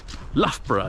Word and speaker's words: Loughborough: my youth uh youth Loughborough you may have heard of it in the Midlands near Leicester it has the sequence ough in it twice l-o-u-g-h-b-o-r-o-u-g-h the first one is pronounced oh the second one is